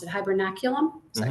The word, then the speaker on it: hibernaculum: So, you mentioned the uh the crayfish burrows and the um I might I might mispronounce it. Hibernaculum.